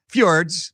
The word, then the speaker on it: fjords: So, it's it's pronounced fijords. Fjords.